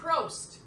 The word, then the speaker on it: Prost: Prost.